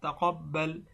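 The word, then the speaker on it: تَقَبَّلْ: তা জবর তা, কব বা জবর কব, বা লাম জবর বাল, তাকাব্বাল। মিম নুন জের মিন, নুন আলিফ জবর না, মিন্না। রব্বানা তাকাব্বাল মিন্না।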